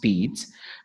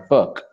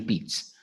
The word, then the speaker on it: Pirc: written pirc it's a French word so it's pronounced pedes most indian scarra pick our perk right but that's not what it is it's actually beats and if you don't want to move the